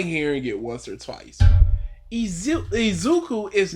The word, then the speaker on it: Izuku: Izuku is not a f***ing hard name. It's phonetically, you can look at It's one I. Why is he saying Aziki or whatever?